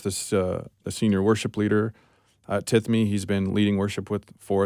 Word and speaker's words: Tithemi: mess up the name, but how do you pronounce this? Tithemi.